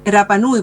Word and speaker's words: Rapa Nui: Mira, para mí lo Rapa Nui, la R no se pronuncia en Rapa Nui, por eso yo digo Rapa Nui. No existe la R, sino la R.